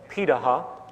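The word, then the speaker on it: Pirahã: societies around the world such as the pitaha which is how it's pronunciated out of brazil amazingly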